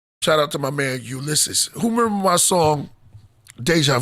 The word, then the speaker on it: Ulysses: Ulysses? Yeah. That's the way you pronounce it.